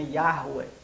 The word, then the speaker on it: Yahweh: Yahvé, ou Yahweh, né, algumas pessoas creem que a pronúncia correta ali do W é U e não V, né, Yahweh.